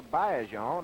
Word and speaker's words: Baillargeon: Orton operates along what lines we know Adrien beler on or Bon as he tells me the correct pronunciation is we know that Adrien will play